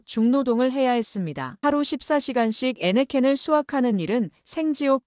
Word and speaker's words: 애니깽: 목적지는 멕시코 유카탄 반도의 에네켄 농장이었죠. 현지 발음으로는 애니깽 농장이라 불렸습니다.